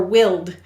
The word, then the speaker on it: wilderness: er and nest now notice the pronunciation changed from wild to wilder or willed and so this is